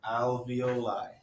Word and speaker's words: alveoli: there are millions of alveoli or alveoli kind of rhymes with ravioli but they're not anything